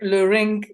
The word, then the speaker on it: Leurink: say that again is my name is lorrink that's that some people cannot pronounce it well but it's okay yeah I